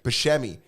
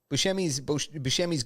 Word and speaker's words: Buscemi: How's his last name pronounced? Steve Buscemi. Buscemi got punched in the eye, ended up going to the hospital.